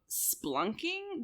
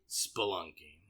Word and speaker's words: spelunking: If you ever want to go splunking, that's how you say it? Spelunking.